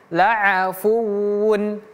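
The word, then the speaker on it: لَعَفُوٌّ: Ini perhatikan pemirsa laa bukan laa. Jadi laa laafu laafu. Kemudian fu di sini waunya tasydid. Jadi bacanya fuu fuwu bukan fu atau fu fuwu laafuwun. Laafuwun bacanya seperti itu ya.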